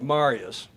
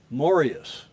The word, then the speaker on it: Marius: and that is and it looks like Marius, but it's pronounced Morius.